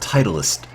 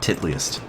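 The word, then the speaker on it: Titleist: I'm afraid okay so it's pronounced titlist not titlist isn't it spelled the same way oh no I'm sure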